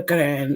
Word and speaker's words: Quran: no, So that doesn't that's in the mean that how you do you say it? Quran? That's the right way to say it. said, well, the Quran, yes, Quran.